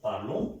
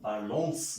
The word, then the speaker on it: parlons: je parle, tu parles, il parle, elle parle, nous parlons, ONS, O की तरह pronounce होगा। ये last वाला कॉन्सोनेंट कभी भी प्रोनाउंस नहीं होता, सो ओ पार्लो, पार्लोंस नहीं होगा, पार्लो, nous parlons, vous parlez, il parle, elle parle।